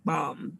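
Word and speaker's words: balm: call it a healing bomb b-a-l-m sometimes it sounds like i'm saying healing bomb theo but i'm saying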